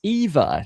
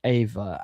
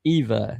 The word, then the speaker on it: Eva: Eva rhymes with diva. Eva.